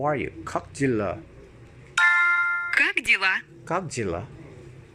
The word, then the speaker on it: Как дела: Как дела? Как дела? Как дела? Как дела? Как дела? If you pronounce it quickly, the letter K, the second K of kak, just flows.